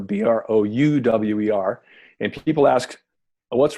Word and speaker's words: Brouwer: So you asked how to pronounce my name earlier, Brouwer, Brouwer, and people ask, what's wrong with the spelling?